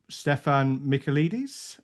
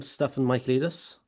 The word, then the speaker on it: Stefan Michaelides: So, joined tonight by Stefan Michaelides and Yeah, Dragan Jovanovic. Have I got those pronunciations right, guys?